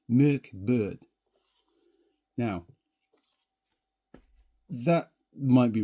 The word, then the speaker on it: Mörk Borg: it right now, but as far as I'm aware, it would be pronounced Merk Bird.